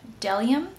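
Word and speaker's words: Bdellium: I'm going to go ahead and take this Delium, I believe the B is silent, Delium Tools number 990.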